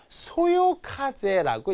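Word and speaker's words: 微風: B에다 현혹되면 안 되고 요 미자는 어떻게 읽어야 되냐면 소요카제라고 읽어야 됩니다.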